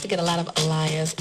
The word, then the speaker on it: Aaliyah: I used to get a lot of Aaliyahs. It's Aaliyah. Aaliyah.